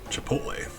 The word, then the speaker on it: Chipotle: So, I mean, it's a T before an L. Chipotle.